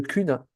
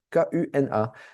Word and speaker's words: kuna: Je vous mentionne qu'on est en Croatie donc la devise locale c'est le kuna k u n a.